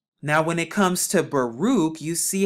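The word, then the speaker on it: ברוך: the cop right here and when you place all four of them together you get the word baruch baruch baruch but if you take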